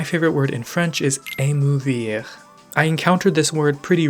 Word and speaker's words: émouvoir: It has the typical French re.